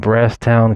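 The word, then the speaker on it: Brasstown: Trail of Tears and brast town comes from settlers confusion of the Cherokee pronouncement place of fresh green and Brass so they couldn't pronounce it so that's how it became pronounced brast Town ball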